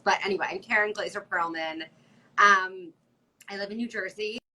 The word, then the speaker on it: Perolman: But I've always just said Perolman because I think it sounds better with the syllables. But anyway, I'm Karen Glazer Perolman.